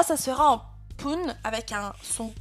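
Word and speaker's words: 分: Ici, lecture irrégulière, Pun. Pun.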